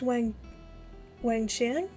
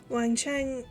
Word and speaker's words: Wang Qiang: I picked Wang Qiang as Rocky's partner first. I'm really not good with Chinese pronunciation. I know the Q is like a CH sound.